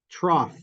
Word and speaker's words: trough: with bump what about trough yeah good good yeah exactly yeah you may not have realized but the GH in IPA I'd write it with an F yeah that's the fricative